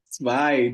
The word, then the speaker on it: zwei: Aqui a gente tem esse encontro vocálico aqui. EI, som de I.